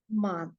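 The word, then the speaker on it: Mann: little bit sent then for husband it is man so the spelling is m a n it is not man just like English but is it is unlike in English it is called as man M A Whenever there comes a it is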